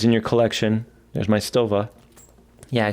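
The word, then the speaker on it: Stowa: slim sleek watches in your collection there's my stova yeah i said it right now look at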